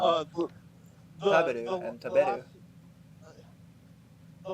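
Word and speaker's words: 食べる: And then on the second one, it's the ba is when the pitch is raised. So taberu. You're actually correct that taberu is the correct way to say it. With the pitch on the ba. Well, that's where it drops at the ba.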